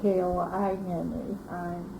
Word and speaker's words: Kline: That, I think, is more like the German way. Mm-hmm. The German pronunciation is Kline.